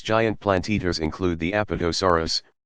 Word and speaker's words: Apatosaurus: plant eaters include the Apatosaurus pronounced a pata s.a.w are us used to be called